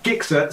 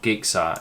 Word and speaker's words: Gixxer: It's not Gixxer, it's Gixxer. Let's get that right.